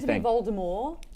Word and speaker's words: Voldemort: reason she did it, she wanted it to be a French name like Voldemort, but once people started talking about it, it became such a colloquial that they pronounced the T.